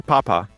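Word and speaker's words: 爸爸: Baba or papa. Baba. Like B. Like B. Baba.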